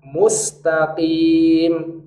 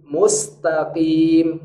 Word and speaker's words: mustaqim: Nah, cara bacanya mustaqim, mustaqim. Nah, itu qaf. Kalau qaf berharokat kasroh, cara bacanya tafkhim nisbi, tebal yang lemah.